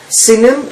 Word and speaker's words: Sinim: Okay, and so in Isaiah, in chapter 49, it talks about the land of, how do you pronounce it? Sinim.